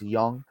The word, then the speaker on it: Jung: Josh Jung, it's actually spelled Jung, but it's pronounced Young.